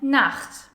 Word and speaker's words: Nacht: like for example in Nacht. Gute Nacht or Tochter. Buch. German learners often pronounce it as a K, and you definitely want to avoid that because then suddenly words like Nacht become nackt.